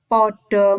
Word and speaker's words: pada: sakwise salat duha bocah-bocah podo mlebu kelase dewi-dewi nanya-nanya perhatikan tulisan pada tapi membacanya bukan pada tapi podo ya kan ini jadi